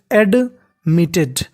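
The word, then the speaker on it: admitted: उसे वाज शी वाज एडमिटेड मीटेड अब देखिए टी दो बार है उच्चारण एक बार करना है और टी ई डी इसे हमें पढ़ना है टेड शी वाज एडमिटेड और उसे भर्ती कर दिया गया टू हॉस्पिटल।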